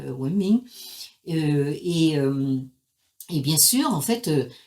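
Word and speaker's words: 文明: Et donc les Chinois se sont tout simplement emparés de ce mot qui se prononce simplement à la chinoise, voilà, Wenming.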